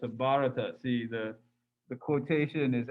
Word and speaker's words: Bharata: do you pronounce that the h is sort of silent so it's just bharata and i think the